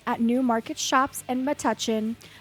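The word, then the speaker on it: Metuchen: at New Market Shops in Matuchin. I did not know that's how you say it. I've been saying Matuchin, but apparently it's Matuchin.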